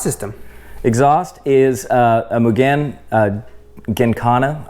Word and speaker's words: Gymkhana: Exhaust is a Mugen Gincana, I think is how you say it. A lot of people say Gymkhana. I don't think that's right. I think it's Gin.